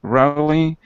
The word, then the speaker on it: rough: And when you see this word here, it's pronounced like rough. Rough. Rough, Hmm. sorry. Yeah, it's pronounced really different than it's written.